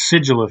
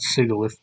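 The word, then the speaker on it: Sigilyph: the tumble weeds sigil it's sigil not sigth it's a combination of sigil and glyph but look those two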